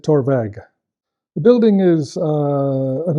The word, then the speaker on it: Torabhaig: language until later years so we we took the BH spelling of torvak to to to use in in the uh in the name so we would pronounce it torveg the building is uh